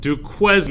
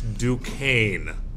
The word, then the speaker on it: Duquesne: far here's what happens the French built a fort called Fort Duane now you Americans might pronounce it Duquesne you americ but it's not it's duain Fort Duan okay and so they